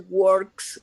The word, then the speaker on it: works: He works for the city. He's a firefighter. Okay, he works this one for the city. Remember to pronounce correctly the final S. Works. Okay. What is next?